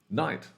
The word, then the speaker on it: night: more like this so This GH is silent where else do we see that well night we see that in light we see that inside oh my God kids rhyming uh we see this in height we see this in might when we talk about I might